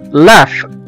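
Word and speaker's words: laugh: زي مثلا كلمة لاف، لاف او يضحك، لاف L-A-U-G-H، الجي هنا جه بعد منها حرف الإتش وخلاها اتنطقت على إنها حرف الإف أو حرف الفه، لاف، لاف أو يضحك.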